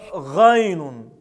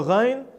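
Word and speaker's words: غين: Буква гайн является язычковой согласной, то есть она произносится там, где соединяется ротовая полость и гортань с участием язычка. Этот звук является щелевым и звонким, то есть произносится с участием голоса. Также этот звук является твердым, произносится через А.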